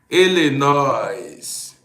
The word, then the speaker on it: Illinois: Illinois. I don't ask the S, Illinois. That's how I pronounce it.